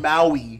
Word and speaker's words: Maui: You said Mao, like Mao Zedong. You talking about Maui?